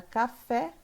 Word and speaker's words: café: E na palavra café, a sílaba tônica é a última.